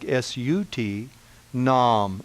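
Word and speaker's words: Sat Nam: vibration our mantra is satnaam SAT pronounced a little bit like sut nam in am satnaam that mantra that mind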